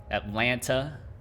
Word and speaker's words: Atlanta: You can tell I'm from Atlanta because I don't pronounce any of the T's, which I just realized. Atlanta.